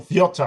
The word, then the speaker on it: Viotar: It's my great pleasure and honor to introduce Viotar. So Viotar, I think, is the proper pronunciation, from the University of the Basque Country, from Spain.